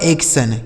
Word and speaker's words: action: आगे देखिए ACTION, तो AC से दोस्तों हो गया एक, और TION का उच्चारण क्या हो जाएगा? सन। यह लिखा गया आपका एक्शन।